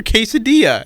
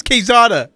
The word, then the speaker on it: Quesada: right it's called you you called her quesadilla no I did not call her quesadilla her name's quesada quesada okay and the other